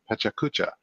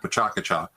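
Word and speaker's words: PechaKucha: Yeah, this is what Steve's alluding to is a presentation format called Pachacucha, and it's pronounced a number of different ways, and nobody judges.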